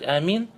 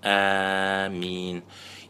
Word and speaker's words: آمين: Первая версия произношения это آمين بالمد وتخفيف الميم, протягивая, делая мад آمين и не удваивая мим. Второй вид произношения амин бильказр уатахфифиль мим, не удлиняя хамзу и не удваивая мим. Амин.